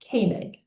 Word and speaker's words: Koenig: Hi everybody, the correct pronunciation is Koenig. So pretend you see a K, nothing else until the There you go.